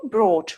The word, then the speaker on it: brought: say torch torch and coach coach the correct pronunciation is tote tote and coat coat the same for the next bring brought brought fight fort fort by bought bought thing